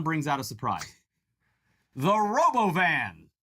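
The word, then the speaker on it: Robovan: out of surprise the robo van which Elon inexplicably pronounces Boven uh Roven oh just rolls up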